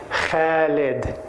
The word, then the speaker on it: Khaled: "My name is pronounced Khaled," with no question mark at the end. And if you're still having trouble, it rhymes with salad.